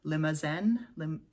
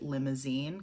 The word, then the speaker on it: Limousin: so these are French oak barrels they're actually limo Zen limousine oak I keep wanting to pronounce it limousine because that's how I brain pronounces it li